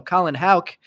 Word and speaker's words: Houck: Now that I've seen Colin play, I also know I was pronouncing his last name wrong. So Colin Houck, number 68 of 99, green paper.